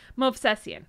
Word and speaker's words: Movsesian: Movsesian.